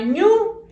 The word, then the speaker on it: ñu: zoológicos, que se llama ñu. Igual que estas dos letritas, pero lleva acento en la U y así se llama el animal.